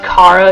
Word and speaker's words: Chara: But if you want to know how I say them, I say Chara. Technically, it probably is pronounced Kara because it's Greek for joy, but I like saying Chara.